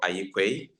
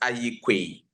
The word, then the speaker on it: Aryeequaye: My name is Aryeequaye from Ghana. I am Can the you secretary. pronounce the second name of yours? The second name is Aryeequaye.